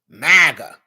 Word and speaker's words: MAGA: MAGA rhymes with Naga.